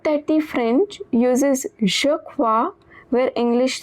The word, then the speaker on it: croient: Same as je tu ils elles, the last ils elles is also pronounced as crois. The past participle is cru, which means believed. Note that the French uses je crois where English says, "I think so."